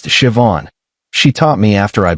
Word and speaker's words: Siobhan: Her name was Siobhan, pronounced Siobhan.